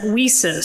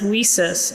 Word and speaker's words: WiCyS: sign out there that says whis so that's how we pronounce it whis and it means we